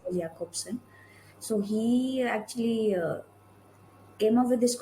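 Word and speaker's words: Jakobson: pronounced as Jacobson.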